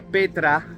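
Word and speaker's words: πέτρα: que es la palabra número 4073 que se pronuncia Petra y significa gran masa de roca Vale entonces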